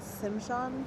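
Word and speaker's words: Tsimshian: The pole represents all 3 tribes of Southeast Alaska: Tlingit, Hadia, and Tishimshan. I'm totally going to pronounce that wrong, so 100% sorry about that. The T silent, Simshan.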